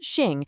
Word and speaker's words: Xing: It's called Xing, which is pronounced Xing, and it basically means nature.